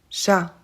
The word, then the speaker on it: chat: vous avez remarqué mais on ne prononce pas le S à Paris et le T à chat c'est parfaitement normal en